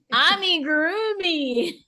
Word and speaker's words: amigurumi: Amigurumi. Amigurumi. I learned that. Don't worry, most crocheters have no clue how to pronounce amigurumi.